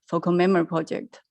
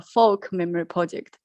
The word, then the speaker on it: Folk Memory Project: Shuang, she told me, I always pronounce our project name wrong, because I always say, this project is the focal memory project. But Yu Shuang kindly reminded me, this is not focal memory project, it's a folk memory project.